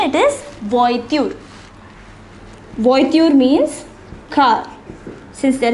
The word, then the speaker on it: voiture: See the pronunciation, it is voiture.